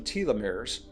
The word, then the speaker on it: telomeres: You've probably heard of telomeres. Some people pronounce them tieumirs.